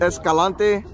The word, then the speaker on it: Escalante: All right, guys, we have Adrian Escalante.